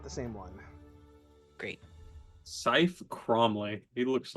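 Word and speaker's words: Saeth: I think it's Seth, or maybe Seth. Hold on. It's not good either way. I have. Oops. Wrong page. Where is my pronunciation guide? It says it's Scythe.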